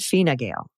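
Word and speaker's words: Fine Gael: Pronunciation. The Irish political parties you mentioned are Shinfane and Fina Gale. Also the Republican candidate for New Jersey governor, Jack Chitterelli.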